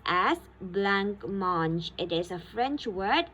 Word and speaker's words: blancmange: Now, blancmange is a French word. Alright, blancmange. It's pronounced as blancmange.